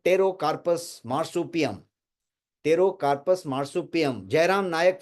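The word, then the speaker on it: Pterocarpus: ये पियासल नाम है इसका, साइंटिफिक नेम है टेरोकार्पस मार्सुपियम। और ये मैंने वहां पे लिखा हुआ है, टेरो में पी साइलेंट है, तो टेरोकार्पस मार्सुपियम, ये लास्ट वाला, ये वाला नीचे लेफ्ट साइड का लास्ट वाला।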